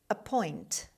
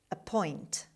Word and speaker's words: appoint: Stress is on the second syllable on p sound.